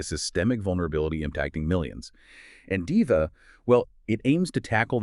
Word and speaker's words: DIHVA: And just so we're all on the same page for this deep dive, we'll be pronouncing it like DIVA.